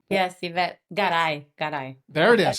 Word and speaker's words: Yvette Garay: Yes, Yvette Garay.